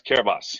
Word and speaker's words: Kiribati: And they say he's pronouncing it wrong. It's Kiribati.